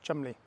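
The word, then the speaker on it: Cholmondeley: himself as chumley c-h-o-l-o-m-e-y it looks like but pronounced chumley euron montego was a barrister and he wanted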